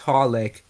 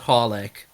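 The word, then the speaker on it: xxxHOLiC: just supposed you're just supposed to pronounce it horlick you don't say any of the three x's why no no i'm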